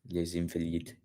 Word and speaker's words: Les Invalides: Yeah, les Invalides, because it's an Elysian. So Elysian, les Invalides, I believe. Je pense que le prononcer les Invalides, les Invalides. C'est prononcé. Yeah, c'est prononcé.